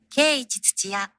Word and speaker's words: Keiichi Tsuchiya: Keiichi Tsuchiya.